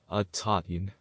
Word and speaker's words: Aaiyyan: This is the whole yantra, and it is pronounced Aaiyyan.